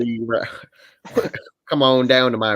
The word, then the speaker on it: Reaver: It sounds like you're saying river really weirdly, but I like it. Reaver.